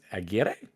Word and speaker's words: Aguirre: It's Amalia Benavides Aguirre. Aguirre? No, it's not Buena. There's no hue.